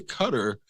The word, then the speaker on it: Qatar: whole way if you if you've been pronouncing it Qatar and then you hear somebody that you know isn't not an idiot say cutter instead of like questioning like oh I think they're pronouncing it wrong you're G to start